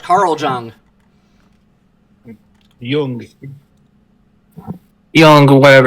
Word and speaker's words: Jung: Correct, Carl Jung.